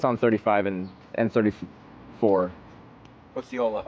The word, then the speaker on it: Osceola: No, I I went down I35 to uh uh 0 How do I pronounce it? What's on 35 and and 34? Oola. Oola.